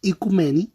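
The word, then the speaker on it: οικουμένη: islas del griego antiguo eucúmenes aunque se pronuncia en griego moderno y cumeni tierra habitada o sea icumeni significa tierra habitada ya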